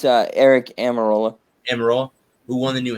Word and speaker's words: Almirola: Eric Almirola, excuse me if I pronounce that name. It's Eric Almirola.